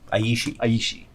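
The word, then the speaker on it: Aeshi: for everybody at home that's spelled a-e-s-h-i but it's probably like AE like Aether you know so yeah words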